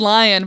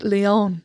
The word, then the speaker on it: Leon: I said lion, but it's Leon.